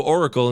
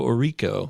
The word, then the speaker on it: Orico: I used to say Joe Oracle until I finally learned that it's Joe Orico, and I will never ever say it wrong ever again.